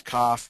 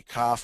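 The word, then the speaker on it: כף: those are doubles the next Double is cough which can be cough or half um the next one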